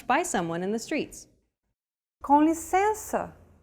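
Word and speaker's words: com licença: someone in the streets conicenza if you recall we talked about nasal vowels in lesson two too like this one and to pronounce it you need to lower your soft palate and the back of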